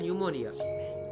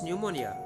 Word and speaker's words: pneumonia: She had pneumonia. What is pneumonia? In this, P is silent.